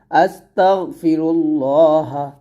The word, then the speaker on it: আস্তাগফিরুল্লাহ: এখানে যদি আমরা এখানে থামি তাহলে বলতে হবে আস্তাগফিরুল্লাহ ইলাইহি আস্তাগফিরুল্লাহ আস্তাগফিরুল্লাহ এরকম ভাবে পড়তে হবে আবার